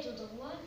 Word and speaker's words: tout droit: Je vais tout droit, je traverse. Tout droit, le T c'est une consonne muette, on ne la prononce pas.